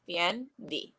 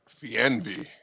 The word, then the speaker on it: Fernweh: But it's Fernweh. Fernweh. Fernweh. Fast though is like the German. She's like Fernweh.